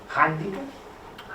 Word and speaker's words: hàndicap: al sistema fonètic català, la grafia H serveix per representar el so H inspirada, que és la pronúncia més habitual en casos com dirham, jihad, haima, hàmster, hàndicap, ara sí, holding, patati patata. Per tant, ja l'ortografia m'ha dit que he de dir hàndicap i que per tant